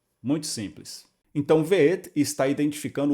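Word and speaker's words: וְאֶת: aberta por assim dizer, o vav e o shivá, v, e aqui a sílaba fechada de novo, o marcador de objeto direto, composto pelo aleph, Aleph é mudo, o tser de baixo é o som de E o tav no final, que é o som de T. Então ficaria tudo assim, ve'et, ve'et.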